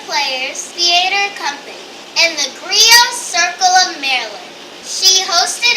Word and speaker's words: griot: It's spelled G-R-I-O-T, but it's pronounced griot. The T is silent.